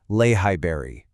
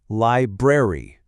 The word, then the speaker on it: library: It is not a lay high berry. It's a library. You really have to navigate both of those r sounds.